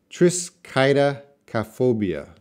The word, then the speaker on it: triskaidekaphobia: is a tongue twister Tris Qaida calf obeah that's how you pronounce it Tris Qaida calf obeah